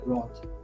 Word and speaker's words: Ratha: But in Ratha, we pronounce in Bengali it's Roth.